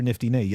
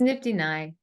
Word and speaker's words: Nifty Nye: Or some people know you on Twitter as, is it Nifty Nye or Nifty Nay? As you know, my pronunciations are terrible. So which one was it? Either or both? Neither? It's Nifty Nye.